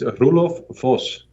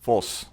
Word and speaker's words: Roelof Vos: And first things first, please educate us on the correct pronunciation of your name. It's Roelof Vos. Vos.